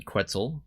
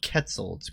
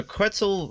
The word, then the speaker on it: Quetzal: while since I've seen the quetzel I see I believe that's how you pronounce that it's not quetzals quitzel right well at any